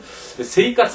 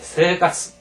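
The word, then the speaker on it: 生活: 상세히 설명이 되 있습니다 왜 세이 가스 하지 않고 세 가스 하는 것인가 하는 거에 대해서 자세히 설명되어 있으니까 참고하시고 어쨌든 세 까스 하면 안 돼 세 가스 새가 새를 길게 발음하라고 그다음에 이제 쓰의 발음입니다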